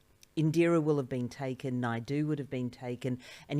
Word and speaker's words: Naidoo: So I would get people not being able to pronounce it correctly and say, instead of Indira Naidoo, they'd say Indira I do, or Indira I don't mind if I do.